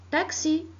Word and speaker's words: taxi: le même sens alors la lettre x se prononce que c'est comme taxi la lettre x se prononcent faisait comme exercice